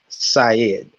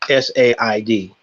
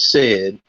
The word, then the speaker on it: Said: of Palestine by Edward Said. That is Said. It sounds like his name is Edward Said, but it's pronounced Said.